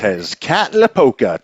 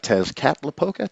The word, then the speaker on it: Tezcatlipoca: Tezcatlipoca. Tezcatlipoca.